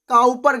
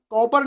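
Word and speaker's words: Cowper: दूसरी होगी काउपर ग्रंथि, कौन सी होगी, काउपर, कॉपर नहीं लिख देना, काउपर, काउपर होता है इसका राइट प्रोनाउंसिएशन, काउपर ग्रंथि या काउपर ग्लैंड।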